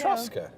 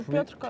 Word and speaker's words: Piotrkowska: Piotrowska. It is, right? Piotrowska. I don't know why my voice did that. I'm saying it wrong. It's Piotrowska. Piotrowska. No, Piotrkowska. Piotrowska. Piotrkowska. Piotrkowska? Really? I think so.